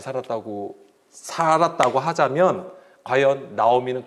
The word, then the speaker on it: 나오미: 잘 살았다고 하자면 과연 나오미는 그 이름 뜻대로 기쁨을 가지고 살았을까? 자, 오늘 이제 이것에 대해서 좀 살펴보겠습니다. 나오미는 노음이라고 읽어요. 그런데 이것이 노암이라는 단어에서 온 거예요.